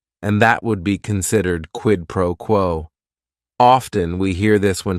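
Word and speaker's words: quid pro quo: right here quidd proquo it is three words each word is only one syllable and if you're saying it together the stress is kind of on that first word and that last word quidd proquo what this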